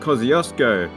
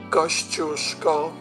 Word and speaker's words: Kościuszko: For instance, our highest mountain, everybody calls Mount Kosciuszko, but I'm sure that's not right. Kościuszko. There you go.